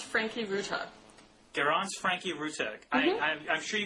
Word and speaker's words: Franke-Ruta: Did I get the pronunciation of your name correct? It's Garance Franke-Ruta.